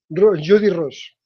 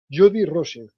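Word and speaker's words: Jodi Rose: Es una artista australiana que solamente se dedica a grabar Jody Rose. ¿Eh? Ahora te lo estoy pronunciando exactamente como se escribe. Rose. R-O-S-E. Jody, con Y, Jody, R-O-S.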